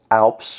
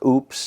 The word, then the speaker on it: Oupes: It's manufactured by a company named Oupes, or Oupes. It's spelled O-U-P-E-S.